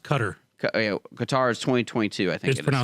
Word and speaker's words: Qatar: it's pronounced Qatar. Qatar is 2022, I think it's pronounced Qatar. All right, Qatar. Qatar is Qatar. It just sounds better to go Qatar. Is it really Qatar?